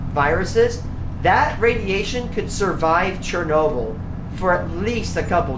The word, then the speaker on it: Chernobyl: Chernobyl, like file, whatever.